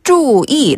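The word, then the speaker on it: 注意: 주의하다는 표현을 중국어로 그냥 注意 라고 하면 돼요. 注意. 발음 똑같죠?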